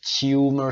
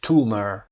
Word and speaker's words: tumor: تلفظ امریکنش و بریتیشش رو ببینید. تلفظ بریتیشش تیومر صدای یه رو میشنوید تیومر و امریکنش تومر noun هم هست.